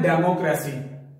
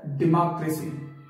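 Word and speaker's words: democracy: डेमोक्रेसी, डेमोक्रेसी बोलते हैं, लेकिन इसकी जो करेक्ट प्रोनाउंसिएशन है वो है डेमोक्रेसी, डेमोक्रेसी, डी को हमने बहुत स्ट्रेस डाल के तेज बोला, डी, मो की जगह आ, ए का साउंड देना है और लंबा करना है थोड़ा सा ना, लंबा,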